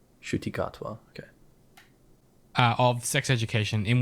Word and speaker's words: Ncuti Gatwa: Ncuti Gatwa. Ncuti Gatwa.